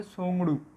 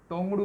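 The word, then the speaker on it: Tshogdu: भूटान, भूटान की पार्लियामेंट का क्या नाम है, सोंगडू। इसे तोंगड़ू मत बोल देना। क्या है ये, भूटान की पार्लियामेंट का नाम है सोंगड़ू, जिसमें टी हमारा साइलेंट हो जाता है।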